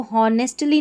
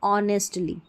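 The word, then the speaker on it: honestly: अब इसको हॉनेस्टली नहीं ऑनेस्टली। ठीक है?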